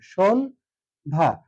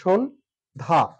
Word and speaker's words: সন্ধ্যা: অর্থাৎ সংগৃহিত হয়ে যাবে সন ধা এই যে সন এখানে কি হলো ন টা ব্যবহার করলাম আর এটা হচ্ছে বদ্ধাক্য সন ধা সন ধা এটা হচ্ছে সঠিক উচ্চারণ এখানে নাসিক্য ধ্বনি ছিল